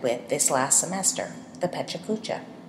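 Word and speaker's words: PechaKucha: this last semester the pachucha pachucha sometimes pronounced pachka in English is a Japanese word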